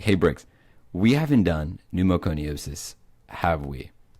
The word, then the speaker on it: pneumoconiosis: done numos sosis right how do you pronounce that Bricks by the way pneumoconiosis okay I'm going to start that again you were just about four syllables off for of pneumoconiosis so I send you